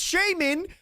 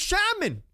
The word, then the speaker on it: Shaman: Bros, it's not pronounced Shaman, it's pronounced Shaman.